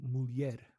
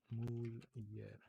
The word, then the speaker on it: mulher: Yeah, like the when you have N and H next to each other, or I guess anything with like the syllable and then like H, it becomes like a Y. So conhece or mulher.